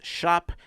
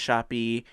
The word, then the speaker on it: Shoppe: Make sure that you're following Mel at the Odd Mouse Shop, SHOPPE, not pronounced shoppy.